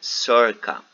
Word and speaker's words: circa: The C that you can see on your book before the numbers, it is pronounced like circa.